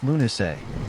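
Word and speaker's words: Lughnasadh: Lugnisad, pronounced Lunay, the Celtic festival honoring L, the god of light, craftsmanship, and war.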